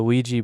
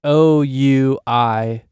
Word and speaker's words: Ouija: Second of all, start the sound with a W. Yeah. Which I think that's not even like the proper pronunciation.